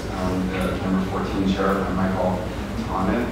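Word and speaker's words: Michael Thonet: chair, which is the number 14 chair by Michael Tonnet. It's spelled like it should be pronounced that name, but it's Michael Tonnet.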